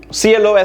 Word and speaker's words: close: look at another set closed c so if you are you know for example if you want to close the door you pronounce it with a z close the door please